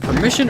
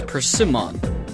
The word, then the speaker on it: persimmon: I've argued, is it permission or persimmon? But it's persimmon.